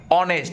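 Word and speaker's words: honest: ও এন ই এস টি কি উচ্চারণ হইছে অনেস্ট কি উচ্চারণ হইছে অনেস্ট কিনে কয় সাউন্ড হইছে প্রথম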